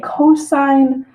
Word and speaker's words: cosine: we pronounce it sine, COS, which we say cosine, or TAN, which we pronounce as tangent.